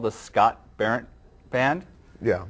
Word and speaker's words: Scott Berendt: Center, but they fired me because I couldn't pronounce names correctly. So tonight, the guest on the show is the Scott Berendt Band.